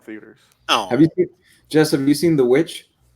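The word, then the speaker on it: The VVitch: oh just a missing the which I believe pronounced the vich but just have you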